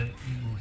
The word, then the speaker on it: imu: our luow and the Emu ceremony now emu is spelled I am meaning cooking pits or underground oven not em Bird yeah so we are